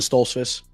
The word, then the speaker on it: Stoltzfus: Yep, Dustin Stoltzfus.